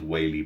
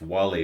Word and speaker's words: Whaley: pronounce your surname because your surname as I would say it is Whaley because there's actually a place near where I grew up called Whaley Bridge and that's exactly how it's spelled so I'm gonna call you tomorrow Whaley but if it's Wally or something else let me know tomorrow Elysees are there